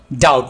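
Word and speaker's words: doubt: ना करो डोंट मी यहां पर हम बी जो लेटर है साइलेंट रखेंगे डोंट डाउट मी क्या यहां कोई है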